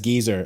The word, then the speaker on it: geyser: Now, I had a friend at work who pronounced geyser as geezer, and I balked at first. It turns out, sizable proportion of the British population, the two words are the same.